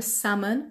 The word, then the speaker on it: salmon: دوم برای salmon گفتیم ل تلفظ نمیشه.